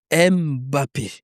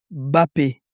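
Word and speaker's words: Mbappé: Pourquoi les gens ils aiment toujours dire Mappé ? Oui. Ah oui oui. Bppé il est à moitié camerounais, à moitié algérien. Au Cameroun on prononce pas le M. C'est Kyan Bappé.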